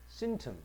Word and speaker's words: symptom: 따라서 요런 symptom, 강세는 앞에 있습니다. symptom, 따라서 증상.